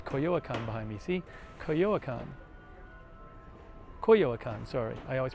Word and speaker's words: Coyoacán: So Coyoacán.